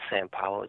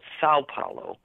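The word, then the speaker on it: São Paulo: Belo Horizonte San Paulo it's not san paulo sao paulo i always make that that pronunciation wrong in Rio and damn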